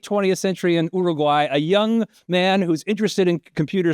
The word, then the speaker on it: Young: So, I grew up in in a near a town called Young, that is Young, but we call it Young because we basically Spanish pronunciation of Young.